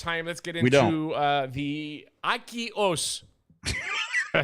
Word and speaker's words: AQUIOS: Let's get into the AQUIOS. Did I say it right? Aqua. Say aqua. Aqua? AQUIOS. AQUIOS.